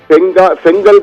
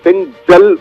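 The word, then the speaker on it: ஃபெஞ்சல்: பிரவீன், இது செங்கல் புயல் என அனைவரும் கூறிக்கொண்டிருக்கும். ஆனால் சரியான உச்சரிப்பு என்றால் செங்கல் அல்ல, செஞ்சல் புயல். செஞ்சல் என்றுதான் அதை அழைக்க வேண்டும். இது அரேபிய சொல். சவுதி அரேபியாவில் கொடுக்கப்பட்ட பரிந்துரைக்கப்பட்ட செல்ஜல் என்றுதான் சரியான பெயர்.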